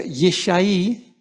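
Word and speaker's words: יִשַׁי: El nombre en hebreo se pronuncia Yesaí, muy cercana a Yeshua.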